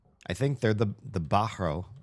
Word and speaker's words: Bahro: I think they're the the Bahro. Well, he pronounced it with like a hard h in the middle. I was going on borrow.